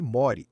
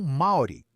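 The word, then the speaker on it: Māori: Sim, aliás, pronuncia-se Mori, não maori.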